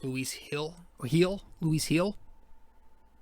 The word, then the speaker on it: Luis Gil: job luis gil uh see i keep saying louise kill it's actually pronounced louise hill heel louise heel it's spelled gi l but i think it's